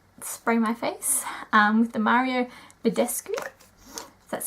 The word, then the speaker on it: Mario Badescu: I'm just gonna spray my face with the Mario Badescu that's how you say it just to kind